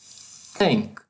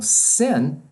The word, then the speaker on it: thin: Por exemplo, thin é magro. Se você pronuncia thin, você está dizendo barbatana de peixe. Se você produzir como sin, você está dizendo pecado.